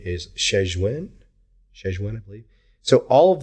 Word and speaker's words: Shenzhen: I believe the proper pronunciation is Shenzhen, I believe.